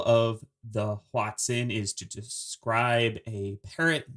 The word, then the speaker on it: hoatzin: partner i am saying watson it does sound a lot like watson and i did double